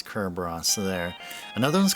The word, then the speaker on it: Cerberus: Well, where I'm looking at here, it's called Cerberus, but of course, it's Kerros.